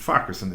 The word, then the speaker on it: Farquharson: If you see it written down, you go, well, how on earth am I going to pronounce that? But Farquharson is the way it's pronounced.